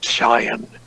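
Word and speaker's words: Pishon: about a river named Cheyenne actually how you pronounce it you ignored the P with quote which encompasses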